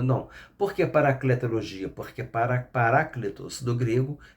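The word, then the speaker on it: parákletos: Mas se fosse pronunciar no grego seria héteros. 2. O Paracleto, né? Em grego é Paráclitos. Paráclitos no grego.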